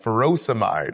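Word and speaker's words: furosemide: Potassium wasting ends in ey like ferosomide or hydrochloroioide. Both rhyme with dried.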